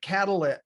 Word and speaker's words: Catalyit: process but that's what we ended up but catalit is how we pronounce it yeah so so basic catalyst to